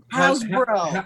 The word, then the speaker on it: Hasbro: Am I pronouncing it right? Hasbro? Yeah. Hasbro. Hasbro. Hasbro came back and said,